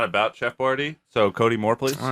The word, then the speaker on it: Boyardee: Changed the way his name was spelt so people pronounced it Boyardee.